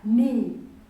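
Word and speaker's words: knee: is sighted we have a word like me a wildlife me is the word leg but this who is silent this one is silent we read this one us me me we have another word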